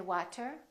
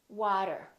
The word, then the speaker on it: water: after me water water we don't say water we say water Auto auto automatic we